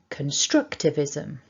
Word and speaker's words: constructivism: got here is that we've got one main stress and it's on the second syllable.